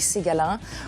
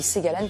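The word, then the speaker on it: Segalen: Galen à parce que à Brest on dit ségalin à ougat on dit séalen parce que c'est la prononciation chinoise que lui utilisait voilà donc je suis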